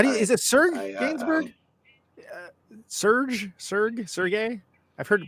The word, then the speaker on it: Serge Gainsbourg: Is it Serge Gainsbourg? Sergey? I've heard it pronounced every single way.